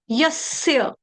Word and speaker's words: यस्य: य कौन सा है? यज्ञ वाला। जस्य कोई नहीं पड़ेगा। यह जस्य नहीं है। जहाज वाला यहां पे नहीं है। य यज्ञ वाला है।